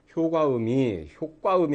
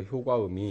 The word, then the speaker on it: 효과: 그러니까 효과음이 아니라 효과음이 이렇게 해서 발음을 해야 된다는 얘기죠.